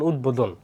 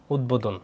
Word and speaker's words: উদ্বোধন: শব্দের মধ্যে ভাষায় সে যদি দ ব সংযুক্ত থাকে, তাহলে ব ফলার কি উচ্চারণ হয়। যেমন উদ্বোধন, উদ্বোধন, উদ্বোধন, উদ্বোধন।